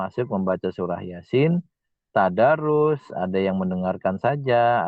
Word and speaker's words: Yasin: Bacanya ya 2 ketukan Yasin. Nah, sinnya itu 6 ketukan.